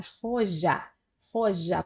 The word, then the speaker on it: joya: A pronúncia muda por causa da letra J, la joya. Parece que o J sai daqui e vai para cá, né?